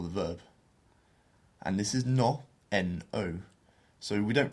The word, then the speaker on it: no: verb and this is no n o so we don't pronounce it like we do in English which is no has to be a much more pure vowel sound so no no so